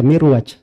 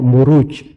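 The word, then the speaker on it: مروج: itu kalau dibahasa Arab gak dibaca mirwaj tapi dibaca muruj jamak dari marjun marajuju itu ada dalam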